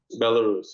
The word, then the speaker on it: Belarus: Am I saying it right? Belarus? Belarus, you got Between Ukraine, I've been there, Estonia, Latvia.